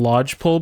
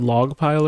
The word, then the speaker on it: lodgepole: they were based on lodgepole pines. I also said it wrong. I said log pile or something.